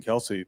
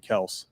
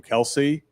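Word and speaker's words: Kelce: Also, uh Travis and Jason Kelsey, their name's actually Kel. their dad apparently. Like, yeah, it's like his all of his family goes by Kelse, but he didn't care and everyone kept calling him Kelsey and it just stuck.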